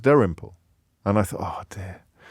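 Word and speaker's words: Dalrymple: fashion uh he he he just uses his own name and says Dar imple and I thought oh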